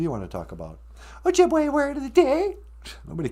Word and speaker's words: Ojibwe: So, in Ojibwe, the letter E sounds like A, as in the word Ojibwe. We don't say Ojibwe, that'd just be silly.